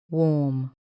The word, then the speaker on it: warm: It's pronounced with an O, warm.